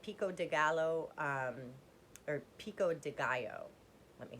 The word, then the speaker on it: pico de gallo: um they have pico de gallo um or pico de gallo let me say it correctly um flavor they